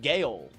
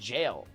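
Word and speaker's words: gaol: And I saw that and I was like, Gail. I thought that's what it was, but it's pronounced jail.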